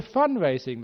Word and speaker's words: fundraising: We were fundraising last week, 100% fundraising. Did you hear how I pronounced that? There's no D on the end of F-U-N. Fundraising, we call it.